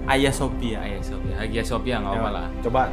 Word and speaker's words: Hagia Sophia: itu tentang apa Hai tulisannya sih Hagia Sophia dibacanya B Ayah Sophia Sophia Sophia ngomong malah